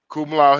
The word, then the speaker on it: Kamala: I was like Kumalau Harris, and it was just like, can you be more respectful and say her name right? I was just like, yeah, that's her name. Her name means lotus in Hindu, so lotus in Hindu is Kumalau.